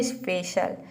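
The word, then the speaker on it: special: है तो वहां पर सी को आपको श प्रोनाउंस करना है शल मला श जैसे एग्जांपल देखते हैं स्पेशल स्पेशल में आप देख रहे यहां प देखिए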